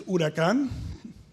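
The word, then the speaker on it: huracán: it's a good drink in Spanish it's urakan and it comes from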